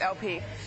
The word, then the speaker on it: El-P: It's EL-P, but it's pronounced LP.